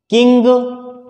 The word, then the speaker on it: king: गे की तरफ जाते जाते हम रह जाएंगे, गे उच्चारित नहीं करना है, गे नहीं बोलना है। तो उच्चारण हुआ किंग, किंग, किंग।